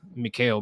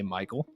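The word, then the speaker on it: Mikal: now number six is a card whose name i often mispronounce and that is mikhail bridges i often say michael okay excuse me all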